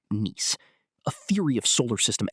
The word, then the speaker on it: Nice: This is supported by the Nice model, pronounced "niece", a theory of solar system evolution.